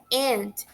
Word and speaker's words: aunt: A pronúncia da palavra tia, né, em inglês, é aunt. A gente não pronuncia a letra U, é aunt.